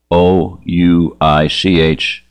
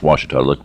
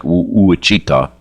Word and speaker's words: Ouachita: Ouachita. Ouachita. It's how it's pronounced Ouachita. It looks like Ouachita, but Ouachita Mountains.